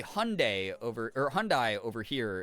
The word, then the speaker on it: Hyundai: So um Hyundai that we say Hyundai here instead of Hyundai uh like it's spelled in Hungle is uh the I was